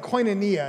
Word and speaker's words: koinonia: the things i introduced is the idea of koinonia it's a greek word say koinonia yeah and